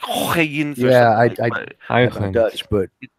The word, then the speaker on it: Huygens: Yeah, it's a very hard H. It's like Huygens.